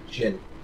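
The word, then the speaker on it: Djinn: They're pronounced Jin. Oh, okay. So it's The D is silent.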